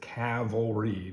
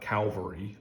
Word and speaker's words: cavalry: for that I apologize I know it is Cavalry not Calvary I know it is